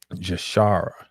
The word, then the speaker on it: Jashara: Jashara. I like that. Shah. Jah, that's Yah. That'd be Yah in Hebrew.